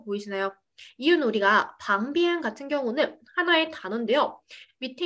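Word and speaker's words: 旁边: 우리 옆쪽 중국어로 방비엔이라고 해주시면 되는데, 우리 보시면 방 같은 경우는 P잖아요. F 발음 절대 하시면 안 돼요. 방비엔이라고 해주셔야 되고, 앞쪽은 前边, 그 다음 뒤쪽은 后边이라고 해서 지금 비엔의 성조가 빠지는 거 보이시나요?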